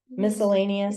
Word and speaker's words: miscellaneous: what that word means miscellaneous it's a Mis it just means and the C is is actually a soft C so it's just sounds like m it's a MK it's